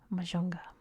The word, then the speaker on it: Mahajanga: For example, you can see here the capital of the region is Mahajanga, but in Madagascar it's pronounced Majunga.